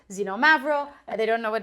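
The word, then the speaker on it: Xinomavro: with an X and then learn that it's pronounced zenom mavro and they don't know what it tastes like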